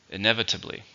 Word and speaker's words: inevitably: and it's an adverb how many syllables are inevitably five syllables stress in a second inevitably he promised to change